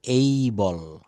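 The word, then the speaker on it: able: কিন্তু এবেল বলা যাবে না। এটা বলতে হবে এই বল। এই বল।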